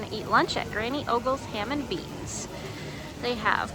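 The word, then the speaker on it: Ogle's: granny ogles granny ogles I always pronounce it OES and actually it's ogles so it's actually um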